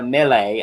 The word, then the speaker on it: Milei: Yeah, so yeah, they did a whole sketch about how President of Argentina, Milei, I believe is how it's pronounced. Javier Milei.